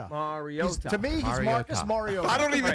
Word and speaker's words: Marcus: pronounces his name. Mariota. Mar- Like Mike Marr. Mariota. Mariota. To me, he's Mariota. Marcus Mariota.